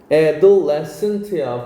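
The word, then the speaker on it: adolescent: 자, adent는 청소년입니다. adessent야. 발음도 알아두세요. adessant anger.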